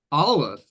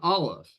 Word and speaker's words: Aleph: Well, it's called an Aleph. Okay, and it's pronounced like the first letter of the word for ox. The first letter of the word Aleph, which is that glottal stop.